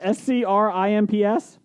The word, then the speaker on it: scrimps: it's uh scripts second scratch how do you spell that s-c-r-i-m-p-s yes scrimps okay uh suck it's great brian